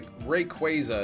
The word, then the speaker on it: Rayquaza: It's Ray Rayquaza is how you say it, but I don't know how they said it in the anime.